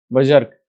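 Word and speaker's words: berserk: Next है, synonym पूछा है, बर्ज सर्क, जर्क बोलेंगे, बजर्क, बजर्क, ठीक है, क्या प्रोनाउंसिएशन होगा इसका, बजर्क।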